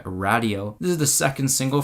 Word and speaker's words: Radio: a new single out it's called radio or as they pronounce it on the song radio this is the second